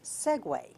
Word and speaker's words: segue: is the spelling of it s-e-g-u-e it is pronounced Segway it's a verb meaning to continue without a